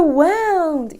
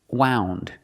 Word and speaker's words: wound: know that that's a wound easy the word is not pronounced wound the word is pronounced wound this is a wound use the long o sound like food and moon woo wound this is